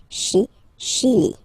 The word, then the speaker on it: Chili: Okay, remember, C-H, sh. Okay, Chili.